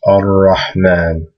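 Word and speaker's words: الرحمن: But when you read it, it's going to have a shadda there, because this lam is silent and it just goes straight to the ra. So it goes ar-Rahman, ar-Rahman.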